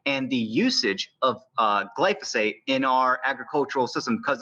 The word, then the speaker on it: glyphosate: the key things that gets sprayed is called glyphosate or you might pronounce it as glyphosphate yeah it's a glyphosate also known as Roundup and that's like proven